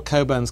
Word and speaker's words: Cockburn: but uh but all coburns carried this Mission through life as your name is spelled cockburn but you pronounce it Coburn um and there are